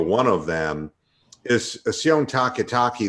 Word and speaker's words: Takitaki: of them is assume taki taki the only football player in the NFL whose last name rhymes with walkie-talkie I can't manukan order